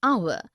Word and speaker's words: hour: air an honest an hour because the words air honest an hour begin with a vowel sound as the initial consonant H is not pronounced article one we use